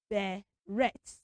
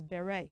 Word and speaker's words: beret: us look good so that word is not Beret we should pronounce that word as Beret why you know the reason because the word is from French language so we bring it in from French language into English language so we do not